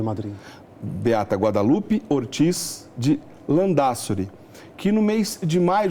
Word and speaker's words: Landázuri: vamos apresentar então a beata guadalupe ortiz de lã da suri é assim que pronuncia andar sobre a espanhola foi natural de madrid beata guadalupe ortiz de lã da suri que no mês de maio de 2017 ov